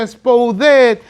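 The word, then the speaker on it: σπουδή: La palabra esforzarse es la palabra diligencia, una palabra griega, espoudé, se pronuncia espoudé, que significa, o lo que él está diciendo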